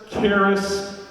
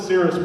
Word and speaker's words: Caerus: little bit of intro here so some people pronounce it cirrus keris keras we go with the cirrus project what's great about this is cirrus is